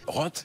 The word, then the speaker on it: Roth: Bon bah j'ai fait mon choix, ce n'est pas très valorisant, mais je vais quand même le prononcer à la française. Roth. Comme un bon français de base.